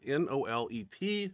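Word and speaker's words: Nolet: okay chanel and and her last name is n-o-l-e-t i'm gonna pronounce it no let at the women's pro-am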